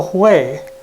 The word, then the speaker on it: Hue: And when we got to Hue, it's spelled H-U-E, I think I'm pronouncing it correctly, the magic happened.